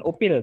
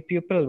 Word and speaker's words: pupil: Nah, jadi perbedaannya itu ya, pupil dan students, bukan upil tapi pupil bacanya. Tulisannya pupil, bacanya pupil, bukan upil ya.